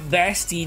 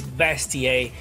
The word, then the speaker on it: bestier: And the pronunciation, guys, is not bestie. They said it's bestier, and it means beast.